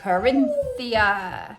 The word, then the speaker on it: Corinthia: The Corinthia.